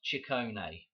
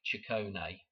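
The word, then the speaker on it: Ciccone: okay it It's pronounced chicone. Okay. Like a chicken. Like chicone. Okay. So, Madonna's name is pronounced like uh like chicken.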